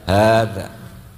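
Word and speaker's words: هذا: Sama kalau nulis hada, ha dzal alif, bacanya apa? Hada.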